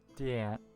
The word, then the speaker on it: Deante: Deanne. Deante Estate. The T is silent.